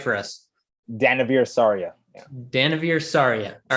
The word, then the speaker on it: Danavir Sarria: Well, pronounce it right for us. Danavir Sarria.